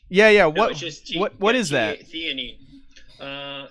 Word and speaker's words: theanine: Athene, is that what you were saying? Theanine. Oh, theanine. Yeah. No, what is that? Theanine.